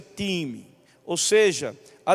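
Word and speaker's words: τιμή: significa essa palavra honra essa palavra honra no grego ela se pronuncia time Ou seja a é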